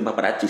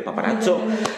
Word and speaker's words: paparazzo: deja bien claro que no se dice papari se dice paparo eh Por lo menos